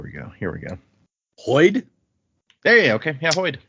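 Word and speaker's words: Hoid: a person I was I was hoping after using one of these with the hard consonants that you might go like hoed or something but no you got it the man the myth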